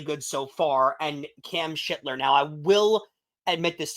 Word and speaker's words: Cam Schlittler: because no no no cam shitler is the is the pronunciation from everything that I